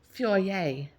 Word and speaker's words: foyer: which my mom calls in this French accent, the fer, the foyer, which she pronounces foyer.